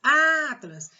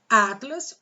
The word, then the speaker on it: Atlas: Atlas, qual é a sílaba tônica? O A. Então, Atlas não é oxítona, Atlas é paroxítona.